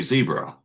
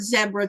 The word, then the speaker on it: zebra: Like someone asked me yesterday, how I pronounce zebra, because you guys say zebra. Yeah, I've heard zebra too. And I'm like, Yeah, and that's the British English. yeah, I Yeah. hear it's called zebra over here.